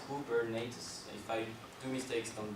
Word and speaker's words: Kubernetes: for myself being french i always pronounce it the wrong way they say google nets or whatever so i think proper way is cool bernates if i do mistakes